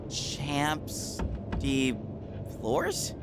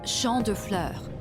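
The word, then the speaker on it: Champs de Fleurs: Champs de Flores? How do you say that? It's Champ de Fleurs. It means field of flowers.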